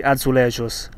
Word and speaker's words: azulejos: delle numerose chiese della città sono i famosi azulejos e in cosa consiste sono momenti di vita